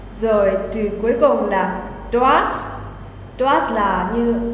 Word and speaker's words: dort: Rồi từ cuối cùng là dort. Dort là như ở đó. Và ở đây sẽ là here. Nhưng hôm nay mình sẽ học mỗi dort thôi. Phải nghe cái T ở trong cái từ đấy.